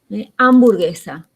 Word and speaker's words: hamburguesa: Del inglés, por ejemplo, hamburguesa, hipnotismo, hurra, handicap, que ahí, acá por ejemplo no pronunciamos la H, hamburguesa, hipnotismo, hurra. La H está muda, pero en otras palabras,